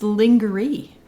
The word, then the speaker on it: lingerie: It's lingerie. Wouldn't you lingerie. say? Or lingerie. Wouldn't you say that? Like, Lingerie. it's not spelled the way it's pronounced.